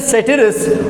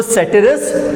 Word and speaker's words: ceteris: एक का प्रोनाउंसिएशन है सेटिरिस और दूसरे का प्रोनाउंसिएशन है पेरिबस। ठीक है, तो सेटिरिस और पेरिबस।